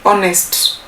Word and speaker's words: honest: pronounce the word honest we say honest but writing it you write with a h honest but pronouncing is